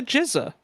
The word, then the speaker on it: GZA: It's no, it's the RZA and the Jizza.